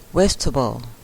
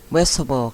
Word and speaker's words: vegetable: Vegetable คือ การ เขียน เนี่ย มัน เขียน ว่า v get Table นะ คะ แต่ ออก เสียง คือ Vegetable Vegetable ค่ะ อ่า ครู มี